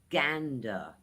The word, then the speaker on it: gander: The word is "gander" two syllables again guys it's gander What gander means like take a look, take a peek, see something.